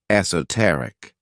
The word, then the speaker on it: esoteric: favorite adjectives is esoteric this word has four syllables with the stress on that third syllable esoteric when we describe something